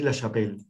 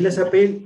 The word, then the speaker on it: LaChapelle: Uno más conocido en Uruguay, porque estuvo acá, que es David Lachapelle, que creo que se pronuncia así, ¿no? David Lachapelle hizo una exposición.